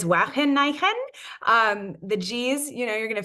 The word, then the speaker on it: Wageningen: we're being recorded, and I'm going to try my best to pronounce this as a Dutch person would.